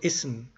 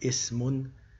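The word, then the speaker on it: اسم: So ism, if you stop with a sukun instead of pronouncing the tanween dhamma, instead of saying ismun, we will say ism, or fi'alun, fi'al, harfun, harf.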